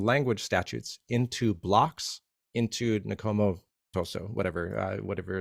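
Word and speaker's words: Akoma Ntoso: And it's that is compliant with Akomontoso, I think is the way you pronounce it. Akomontoso, yes.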